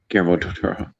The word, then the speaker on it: Guillermo del Toro: I don't think That's it's Guillermo del Toro.